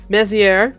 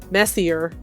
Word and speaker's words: Messier: Messier is pronounced like that because the film is based, there's a lot of French names in the film, so it's Messier, not Messier. You don't pronounce R.